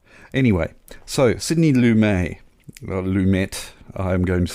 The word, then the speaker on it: Lumet: all right how does that sound uh it's lumet i'm gonna have to record lumet lumet lumet